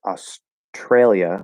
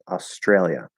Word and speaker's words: Australia: so australia australia and other people will blend that t into a ch before the r consonant not the r val just the r consonant like i do um and we'll say tr australia australia now in this